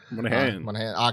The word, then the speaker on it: Monaghan: Monaghan.